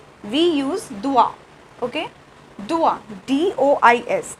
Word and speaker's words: dois: Okay, this is difference of spelling only, but pronunciation is same, doit.